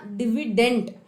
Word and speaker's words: dividend: है, तो याद रखना डिविडेंड है, ठीक है। एंड अगर लास्ट में टी का साउंड है, it doesn't mean the spelling में टी है, DIVIDEND, डिविडेंड ना।